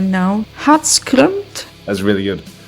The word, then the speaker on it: Hatskrømt: So, your band has a particular name because I'm not able to pronounce myself but I just I will try right now. Hot scrunt. That's really good. Hot scrunt.